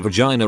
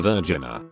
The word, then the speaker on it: vagina: To a 28-year-old female native Californian whose first and only language is English, that it's a vagina and not a virgina. Should have told her it's pronounced vagina.